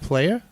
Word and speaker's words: playa: It's pronounced playa? Yeah, it's Playa is Spanish for the beach.